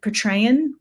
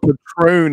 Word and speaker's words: Patreon: Is it Patreon? I was pronouncing it wrong. Is that call it Patron, and people are like, that's tequila.